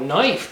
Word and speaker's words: knife: here with xander it's called a knife but it's spelled with a k which is silent due to the scandinavian